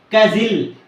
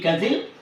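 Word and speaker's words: castle: letter T is silent kazil c a s t l e kazil here the letter T is silent mail m u s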